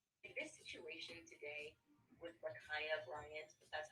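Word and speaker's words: Ma'Khia: face was beautiful in this situation today with makaya bryant that's how you say her name was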